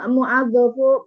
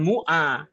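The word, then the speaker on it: مُوَظَّفُ: Wawu kalau fathah maka bacanya? Wa. Nah, begitu. Jadi bukan mu'a. Mu'adzafu.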